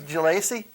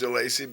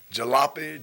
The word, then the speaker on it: Jalacy: point of it is no one could ever pronounce it right jalape jalup galassie and I said well if you're the teacher and I'm the pupil why can't you pronounce my name right so why don't we